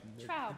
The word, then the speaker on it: Traub: I'm mispronouncing your name, and I want to get it right. Traub.